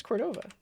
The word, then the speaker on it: Cordova: your own plugin Cordova how else would you pronounce Cordova Cordova Cordova or dova Cordova Cordova Cordova Cordova Cordova Cordova Cordova Cordova it's a long so in English uh vowel consonant vowel would make this a long o like o instead of